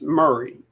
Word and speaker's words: Maury: So, Lieutenant Rosco Voss of the Mory County. Am I saying that right? Is it Murray? It's it's uh it's not like it's written. It's Murray.